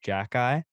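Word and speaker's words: Xhekaj: x h e k a j and it's pronounced Jackie and he absolutely manhandled Zach Cassian because that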